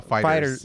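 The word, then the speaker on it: Dragon Ball FighterZ: Dragon Ball Fighters. Dragon Ball Fighters. Fighter Z. No, you don't pronounce the Z apparently. Fighters. Of course. It's just fighters.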